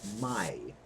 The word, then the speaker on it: mai: My, M-A-I. A-I is always pronounced I, like your eye, that you see out of. I. So the word is my.